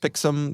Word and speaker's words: Pixm: Joe, speaking of looking things up, I had to look up how to pronounce Pixem. I don't know if it was Pixem or I would have said Pixem. Pixem, yeah, it's That's Pixem.